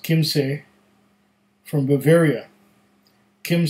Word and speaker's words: Kymsee: bottom there but this is a German whiskey pronounced Kim say from Bavaria Kim say is the name of